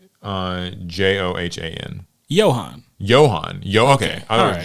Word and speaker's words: Johan: the requirement would anger fans how do you spell that name um p i l the first name uh j o h a n Johan Johan yo okay I Joan okay yeah you know it wouldn't be Joanne